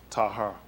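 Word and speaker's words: taher: for us would be Tahar. Tahar. T-A-H-E-R, I think is how they spell it. T-A-H-E-R. Tahar is how they pronounce it.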